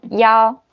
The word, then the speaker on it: 一: And the last one, yao. Yao. When it's the one, it pronounced yao. It's the numbers, like 110.